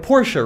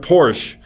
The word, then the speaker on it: Porsche: deleting a letter right porsche is you're completely forgetting that that e is at the end of that word you do that with